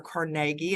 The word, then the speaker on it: Carnegie: On the far left, that would be Andrew Carnegie, or Carnegie, as it is sometimes pronounced.